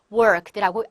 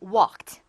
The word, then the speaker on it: walked: 의외로 많은 분들이 이 L 발음을 더군다나 R 발음으로 발음하시는 분이 참 많습니다. 이런 경우 worked라고 R 발음 하지 마시고 그냥 walked.